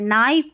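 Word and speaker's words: knife: फिर देखिए के एन को न पढ़ेंगे, क्योंकि देखिए के एन को न इसलिए पढ़ा क्योंकि के साइलेंट है, नाइफ और नी, ये साइलेंट वाला हो गया। डब्लू आर को है ना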